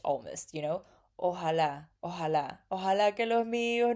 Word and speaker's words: ojalá: In Mexico, we say ojalá. His J is a little bit softer. It's more like an H almost, you know. Ojalá, ojalá, ojalá que los míos nunca se muden.